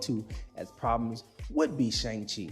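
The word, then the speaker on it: Shang-Chi: as problems would be Shang Chi or Xiang Chi as is properly pronounced that movie is the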